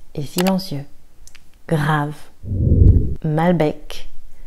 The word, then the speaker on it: Malbec: Malbec. Alors attention, ici il faut entendre le C.